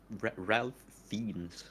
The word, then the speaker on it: Ralph Fiennes: Ralph Fiennes or Ralph Fiennes.